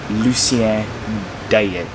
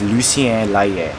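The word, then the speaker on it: Lucien-L'Allier: it this whole time i've been pronouncing the station name wrong it's lucien deyette it's lucien leia all aboard we're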